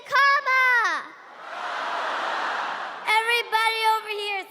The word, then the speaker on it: Kamala: First, you say comma like a comma in a sentence. Then you say la like la. Put it together and it's one, two, three, comma.